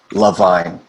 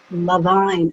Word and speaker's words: Levine: Like love, Levine. Levine.